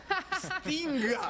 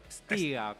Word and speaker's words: Pstyga: No, es Pstinga. Sí, era difícil. Pstinga. ¿Lo Sí, pronuncié ponele, Es- no. A verlo. ¿Cómo? Es Stiga, pero se puede evitar la P, es más fácil.